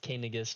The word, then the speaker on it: Canagus: I will speak with King Canagus and get permission to leave. Hey, what now? Kangas? I don't remember how it's pronounced. Yeah, it's pronounced Canagus, but it sounds like you're saying something else sometimes.